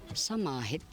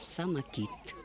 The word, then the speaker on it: Самахет: Здесь наши места есть, которые назвали Самахет, венкийское слово. То есть там были шаманы. Они собирались венки, когда лечили оленей, когда кто-то заболевал. И шаман шаманил. Самахет. А русское произношение сегодня Самакит.